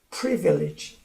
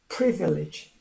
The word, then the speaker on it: privilege: 그래서 오늘은 privilege, 강세가 첫 음절에 있어요. privilege, privilege. 그래서 색깔을 바꿔 말했습니다. 그러니까 이 단어 privilege가 강하게 발음되는 단어인데 그 중에도 강세가 있는 부분, pre 부분이 강조되는 것입니다.